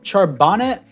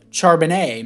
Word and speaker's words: Charbonnet: um jsn so that was a great pickup charbonnet or uh charbonnet my bad is how you pronounce it I think a lot of people